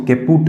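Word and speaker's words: caput: तो birth trauma में अपन सबसे पहले स्टडी करते हैं केपट सक्सीडेनम, ठीक है, कई इसको केपूट बोलते हैं, केपट इसका प्रोनाउंसिएशन है, केपट सक्सीडेनम, ठीक है।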